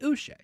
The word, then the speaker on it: Uche: Don't be douche, pronounce it Uche.